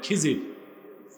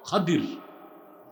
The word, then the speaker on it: খাদির: আপনারা ভুল বলেন খিজির, উচ্চারণটা হচ্ছে বিফাতহিল খা ওয়া কাসরিদ দাদ, খাদির। আমরা বলি খিজির।